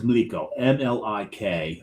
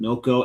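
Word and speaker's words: mlíko: So the pour is Mliko, Mliko, and correct. Us anglicizing everything, we took the L, moved it over behind the I to make it Milko. We pronounced it Milko, and it became milk tube.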